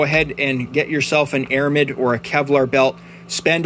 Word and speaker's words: aramid: lot longer and even though this material is pronounced aramid you may sometimes hear me refer to these blue belts as amorid and that's just me getting a little bit